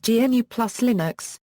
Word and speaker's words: GNU+Linux: using the term GNU+Linux, which he pronounces "GNU plus Linux", to prevent others from pronouncing the phrase "GNU/Linux" as "GNU Linux", which would erroneously imply that the Linux kernel is maintained by the GNU project.